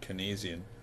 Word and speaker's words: Keynes: It was Keynesian's idea, and his name was Lord John Maynard Keynes, I think it is properly pronounced, that at the close